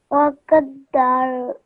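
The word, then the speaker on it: فَقَدَّرَهُ: Faqaddarahu. Okay, just follow after me. Faqadda. Faqadda. Ra. Hu. Rahu. Okay, so because of the inverted dhamma, you have to pronounce that for 2 seconds, okay?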